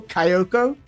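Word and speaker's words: Kayoko: managers is so hard Kyoko k-a-y-o-k-o Kyoko that's right uh who is a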